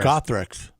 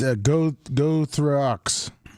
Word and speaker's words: Gothrox: Gothrix. Is it Gothrix? It's pretty close because it's Gothrox.